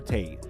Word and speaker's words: Tate: It's not pleasant to hear and it rhymes with fate. Can you guess who it is? It's Andrew Tate, the new most hated man in the world.